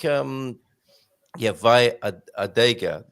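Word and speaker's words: vai à adega: So because both A's, then you pronounce the A's just as if they were one. So vai adega, vai adega.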